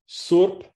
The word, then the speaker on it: surp: Surp, that ends with an unaspirated P.